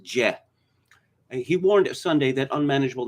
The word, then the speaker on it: Jeh: johnson yes it's it's spelled jeh but it's pronounced jet he warned sunday that unmanageable numbers of illegal